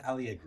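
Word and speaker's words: Alliegro: Do you think I say Allegro, you say, how do you say it? Christian Algro. Okay. A Christian Algro.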